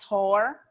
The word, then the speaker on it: Hoare: may know my mother's maiden name is Hore, and it's spelled Hoare.